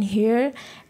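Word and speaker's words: heir: An hour, এখানেও কিন্তু এইচের উচ্চারণটা সাইলেন্ট। সেরকমই দেখো অ্যান হেয়ার, an honourable person, an honorary post.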